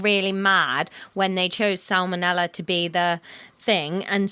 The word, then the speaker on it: salmonella: come it is salmonella you really pronounce the L in that salmonella salmonella salmonella salmonella